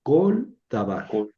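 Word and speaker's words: כָּל דָּבָר: Entonces aquí esta sílaba es cerrada porque termina en lam en en lam y es átona porque acá está el tono. Entonces esta es una sílaba cerrada átona. Por tanto, la vocal es una hem, perdón, es una camet o breve. Entonces hay que leer colabar, colabar.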